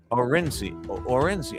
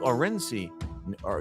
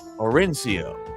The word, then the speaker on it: Orencio: Duke Orenci or Durance or I'm seeing a lot of stuff in the comments. I was saying I thought it was Orencio, right? Orencio? That's right.